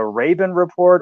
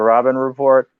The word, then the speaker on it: Robin Report: clear up this pronunciation is it the raven report or the robin report the report robin yeah it's the robin report oh yeah i was